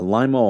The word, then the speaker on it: Lima: There's uh Limo, Ohio, which is spelled like Lima, Peru.